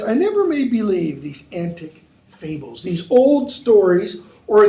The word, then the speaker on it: antic: You've got a gloss there for antic, old-fashioned, and punning, and that would be pronounced in Shakespeare's day, antic, not antique. Okay? So that it puns on the word antic, like crazy.